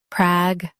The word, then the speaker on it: pragmatic: Pragmatic. Both US and UK have the same pronunciation of this word. Stress prag. Keep ma light, end with t.